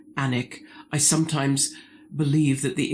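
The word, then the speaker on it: Alnwick: Barter Books in An the town is actually spelled A L N W I C K but pronounced Anic.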